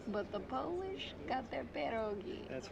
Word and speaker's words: pierogi: I'm pronouncing it all wrong. Is it pierogi? Yeah, there you go. That sounds good.